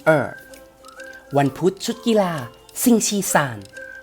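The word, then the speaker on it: 星期三: วัน พุธ ชุด กีฬา ซิง ชี ซาน ซิง ชี สาร วัน พุธ สิ่ง ที่ 3 เห็น ไหม ครับ มัน ง่าย มาก เลย ศาล คือ เลข 3 นั่น เอง ซึ่ง ชี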